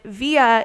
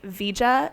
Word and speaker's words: Via: And with Via, he was really concerned that people would end up saying Vija in English because of the J.